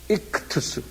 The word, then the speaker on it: ΙΧΘΥΣ: 한번 발음해보세요. 익투스.